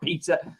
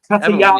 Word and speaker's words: Petr Yan: Some people are making, a case for Sterling, but then I'm reading, Petr Yan, Petr Yan, should I say, not Peter. Petr Yan.